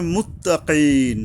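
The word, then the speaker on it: المتقين: এক জায়গায় থামতে এরপরে মুত্তাকিন এই কাফ কফ উচ্চারণে সাবধান হতে হবে। হলকের গোড়া থেকে শক্তভাবে আদায় হবে। আর ইয়ার উপরে এইযে মুত্তাকিন এই ইয়ার উপরে এখানে তিন আলিফ টানতে হবে।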